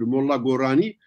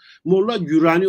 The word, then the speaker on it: Molla Gorani: Ama Türkçe'ye bunu çevirirken yine bir şey kayması var. Anlam kaymasından bir şey kayması var. Harf kayması var veyahut da telaffuz kayması var. Molla Gürani okunmuş. Niye? Çünkü vav var o arada. Vav harfi Osmanlıca'da vav harfi hem ü hem o hem u hem de ö olarak okunabiliyor. Yani okuma hataları o yüzden olabiliyor.